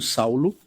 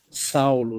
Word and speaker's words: Saulo: Apóstolos dizem assim entretanto Saulo pois esse é seu nome Saulo é seu nome judeu Saulo pronunciamos Saulo na verdade não dizemos Saul mas Saulo entretanto Saulo ainda respirando